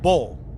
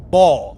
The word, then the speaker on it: Baal: Because it's not really Baal. We said it that way, but it's really pronounced bull or Baal. That's how you say it, bro.